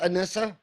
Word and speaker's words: Anissa: is your name pronounced anissa it is like Vanessa with an a unless it's love and kind of like a Melissa anissa Melissa like anissa